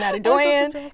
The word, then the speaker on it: Adedoyin: my name is Oyin Adedoyin, and I was like, I've never met someone where their last name rhymes with their first name.